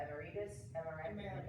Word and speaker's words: Emeritus: Emeritus. Emeritus. Like America. Yeah, but east.